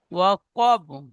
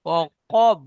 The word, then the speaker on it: وقب: ইজা, ইজা, إذا إذا وقب ওয়াকব, وقب কাব হবে না, কব, দুই নোক্তাওয়ালা কব। وقب হ্যাঁ, وقب হ্যাঁ, জি। إذا وقب ওয়াকাব নই, অকব। وقب وقب হ্যাঁ, জি। আরেকবার বলেন। ومن شر غاسق إذا وقب। এখানে একটু মশ করবেন, এগুলো সংশোধন হয়ে গিয়েছে। ও কব, কব, কব উচ্চারণ করবার সময় وقب ঠোঁট গোল থাকবে।